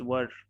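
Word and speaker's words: were: और इसका प्रोनाउंसिएशन बहुत लोग वेयर करते हैं, इट इज नॉट वेयर, इट्स वर्ड, like that, वी वर्ड, ऐसा है वो, ठीक है।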